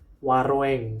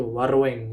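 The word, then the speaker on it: waroeng: Jadi masih W A R O E N G Wareng. Kalau misalnya kita eh harfiah bacanya itu adalah masih seperti itu. Warweng. Walaupun kalau di kalau kita baca yang benar memang ya warung gitu ya.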